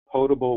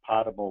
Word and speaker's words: potable: And the answer is you pronounce it potable water or non-potable water, not potable water.